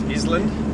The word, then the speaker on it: island: um I remember first learning about silent letters I think could have been Ireland I think it's called s s island that's how I remember